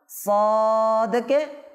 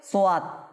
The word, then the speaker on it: ص: এখন চারটা হরফ যে সদ থেকে ব পর্যন্ত, এগুলো পড়ার সময় মানুষে ভুল করে, এগুলোর সাথে অতিরিক্ত একটা ওয়াও বাড়িয়ে নেয়। যেমন সদকে সোয়াত, কি বলে?